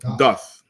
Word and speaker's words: doth: Is it doth or doth? Doth. Like do or does, like doth.